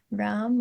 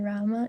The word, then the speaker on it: Rama: in Youth Jam, and they asked if it's Hare Ram or Hare Rama, and then you told them that there's an extra syllable in the end, which is like Rama.